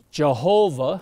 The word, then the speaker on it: Jehovah: name the name is JV h v or Jehovah is the way we pronounce it or Yahweh it's the same word